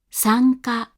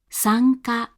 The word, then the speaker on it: sanka: This means that before K and G, velar sounds, the hatsuon is pronounced like this, as a voiced velar nasal. Let's try listening to a few examples of this sound now. Sanka, sanka, sanka.